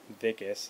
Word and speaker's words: Wikus: However, for the most part, the character of Wikus, or Vicus, as they pronounce in the movie, he played him pretty good.